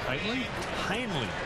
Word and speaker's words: Hainley: And Heinley Stacia at second. Heinley apparently is how you pronounce it.